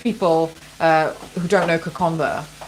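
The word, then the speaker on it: Kokoda: uh who don't know Konda k o k o d a please understand the D in Fiji D in Fiji is pronounced with a with an an invisible n so um yeah it's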